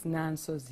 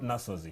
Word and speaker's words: Nansozi: It's Nansozi. It's Nansozi, yes. Not Nasozi. No. I was thinking it was my fault. No, it's Nansozi.